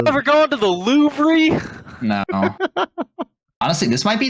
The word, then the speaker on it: Louvre: The Louvre. This is the Louvre. goddamn Louvre. Okay, let's see if The we can- Louvre. The last two letters aren't pronounced.